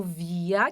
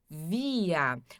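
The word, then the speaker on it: wir: Aí nós depois temos o via, que é a primeira pessoa do plural. Via. O W também sempre tem som de V aqui. O R no final som de A.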